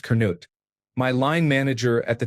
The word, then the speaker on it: Canute: In my last place of work, there was a fellow senior manager called Canute Beakman, pronounced Kut.